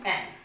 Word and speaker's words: hymn: hymn.